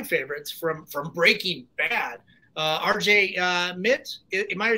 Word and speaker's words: Mitte: one of my favorites from Breaking Bad, RJ Mitte. Am I saying his last name right? RJ Mitte. Mitte. Okay, I've been mispronouncing it for all these years.